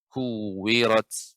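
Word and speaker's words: كُوِّرَتْ: Kuwirat ya, ya, setiap membaca kaf yang berharakat dhammah ditambah lagi ada tasydid ya, dimonyongkan bibirnya.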